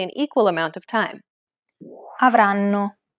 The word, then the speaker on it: avranno: The first N is held for roughly the same amount of time as all the other syllables.